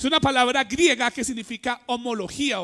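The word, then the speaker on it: ὁμολογία: profesión mirémoslo es una palabra griega que significa homología o que se pronuncia homología o haciendo una trasliteración aquí al español qué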